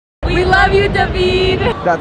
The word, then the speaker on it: David: We love you, Davidid. That's my name. Deed is how it's pronounced with the Russian accent.